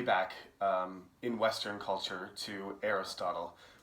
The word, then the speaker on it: Aristotle: Western culture to Aristotle, which Koreans call, probably the pronunciation is more correct, Aristoteles. And you might know, if you have your native languages, another one, you might say it's something like that. The American pronunciation is Aristotle.